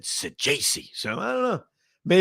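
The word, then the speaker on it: Saggese: And the shortstop, Thomas Sajese, is how you pronounce it. And I know that for sure because I think I was sitting near the Sajese family. I don't know. They really loved him. And I asked, I said, by the way, how do you correctly pronounce this guy's name? And they said Sajese.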